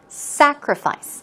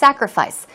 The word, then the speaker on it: sacrifice: sacrifice here we go it's a strong sound so it's not s it's not sa but it's s sacrifice SA sacrifice synonyms are suffering or